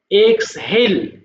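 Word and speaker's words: exhale: বলে এক্সল নিঃশ্বাস ছাড়া দেখো উচ্চারণটা এক্সল এক্সহেল এভাবে বলবা হ্যা এক্সহেল নিঃশ্বাস ছাড়া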